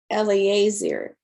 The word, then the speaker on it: Eliezer: And if I'm going to say his name correctly, it is Eliezer.